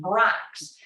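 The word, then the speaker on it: Brach's: the logo it says please ask for b-r-o-x that's in case you don't speak German and you don't know how to pronounce this German name Brax and if you don't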